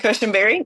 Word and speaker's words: Cushenberry: how are you doing today I hope I pronounced that correctly you can call me it's easier and cushenberry yep you got it um when I was